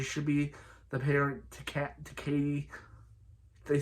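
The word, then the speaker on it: Cady: be the parent to Katie. They say her name is Caddy. They say her name is Katie, but C-A-D-Y, not C-A-T-Y. So I thought her name was Caddy, but they call her Katie for the rest of the film.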